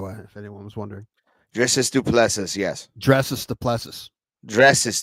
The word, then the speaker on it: Du Plessis: Du Plessis, that's how you say it, by the way, if anyone was wondering. Dricus Du Plessis, yes.